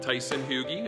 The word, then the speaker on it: Tyson Hugie: So here's our special guest at RAD Garage, Tyson Hugie. Am I pronouncing that right?